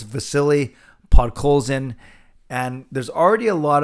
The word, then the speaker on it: Vasily Podkolzin: We know Stan Smil butchered his name, Vasilios Podslovins, but that's okay. It's Vasily Podkolzin, and there's already a lot of hype about him.